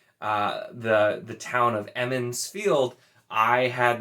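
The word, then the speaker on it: Emond's Field: the the town of emin's field i had my brain told me it was edmonds field and it was not for at least like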